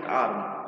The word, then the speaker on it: ARM: In common language we simply pronounce it ARM.